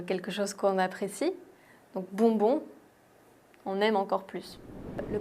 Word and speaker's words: bonbon: Le prochain mot est assez rigolo et très bien si tu veux t'entraîner à prononcer le son on, voyelle nasale on, c'est le mot bonbon.